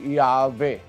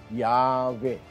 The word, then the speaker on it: Yahweh: While inclining to view the pronunciation Yahweh as the more correct way, we have retained the form Jehovah because of people's familiarity with it since the 14th century. Ayan, maliwanag ho. Mas naniniwala raw sila, mas malamang daw ang paniniwala nila na ang original na pronunciation o pagbigkas ng pangalan ng Diyos ay Yahweh. Yahweh. As the more correct way, mas tama ang Yahweh.